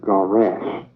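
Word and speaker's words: גרש: In Hebrew, divorce is garash, Gawrash. In Hebrew, it is spelled Gimel Resh Sheen. That's in Hebrew, it is spelled Gimel Resh Sheen, garash.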